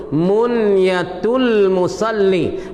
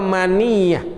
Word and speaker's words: Munyatul Musalli: Baca munyah dengan mati nun dengan sukun nun. Munyatul musalli. Bukan ya baca maniyah.